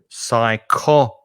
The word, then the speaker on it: psychology: the letter p so silent p in psychology psychology is that going from uh right to left psycho no it's that way isn't it psycho the g so you've got four syllables in that word the p is silent and the stress is on the second syllable psychology psychology so you can